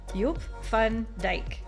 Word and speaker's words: Joop van Dijk: I literally ran that through Google Pronounce. Joop van Dijk.